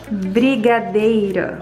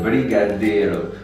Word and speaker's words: brigadeiro: Qu'est-ce que tu en penses de ma prononciation, Carolina? Brigadeiro. Ok, Brigadeiro.